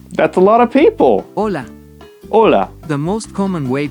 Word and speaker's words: hola: Hola. Hola. Pedro. Hola. Hola. It's not H, so it's hola, but it's spelled hola. Okay, this is gonna be tricky.